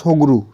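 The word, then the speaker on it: Tshogdu: এখানকার পার্লামেন্টের নাম হয়ে যাচ্ছে সোগরু। সোগরু, টিটা এখানে সাইলেন্ট থাকে।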